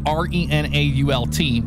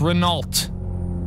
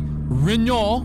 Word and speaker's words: Renault: If there's a T in there, we will pronounce the T. Okay? It's Renault in American. Okay. It may be Reno or Reno, whatever you